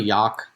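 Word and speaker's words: Jagd: you pronounce that again yag yag it's it's really yak if you go like if you want to say it like German weight what what it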